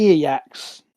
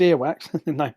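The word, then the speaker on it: Earwax: meet with um the ear yaks is that is that pretty do have i pronounced it correctly just no it's ear wax okay um she's um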